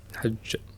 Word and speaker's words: حج: اخير تقف عليه نعم طيب فمن حج البيت حج ايوه يعني راعي شده الجيم ها ولا تاتي بها بالرخا وه لا تقول حج البيته تمام واضح طيب خيرا